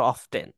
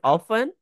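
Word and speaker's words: often: ওকেট অফেন দুইভাবে উচ্চারণ করা যায়। অফেন র অফটেন okay অফেন in British মানে স্টাইলে আর অফটেন আমেরিকান স্টাইলে ওকে টেক লিটল টাইম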